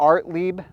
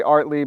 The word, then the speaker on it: Ortlieb: I showed the bags that I have they're art Le bags listen it I pronounced it artly because I went on their website and looked